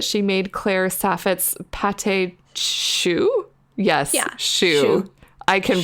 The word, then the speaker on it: choux: The Edmonton Tourist shared with us that she made Claire Saffit's pâté choux. Yes, choux. I can pronounce French.